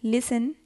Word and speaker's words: listen: Read aloud the words given below and circle the silent letters in them. So let's start. Knee, K silent. Doubt, B silent. Listen, T.